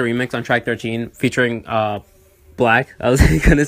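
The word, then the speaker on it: 6LACK: Six Lacks pronounced Black, that's so funny to me.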